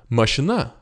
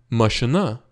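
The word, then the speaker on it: mašina: И тоже обратите внимание, не машина, но машина. Машина. Это «э» очень краткое. Машина. Мы почти не услышим этот звук. Машина. Очень краткое. И «а» ударение на слог последний. Машина.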